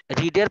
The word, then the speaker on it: read: রিডের past ফর্মটার উচ্চারণ হবে রেড, past participle উচ্চারণটাও হবে রেড, কিন্তু বানানটা সেম, ঠিক আছে?